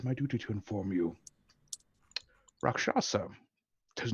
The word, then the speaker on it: Rakshasa: Rakasha. Can I religion check that? Is he missing an S there? That's what I'm wondering. Look, you can pick on my pronunciation all day. I'm- Rakasha? Okay, Rakshasa.